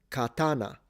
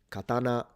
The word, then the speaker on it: katana: Either katana katana. So na is low. Katana. Katana. The other is katana where na stays high.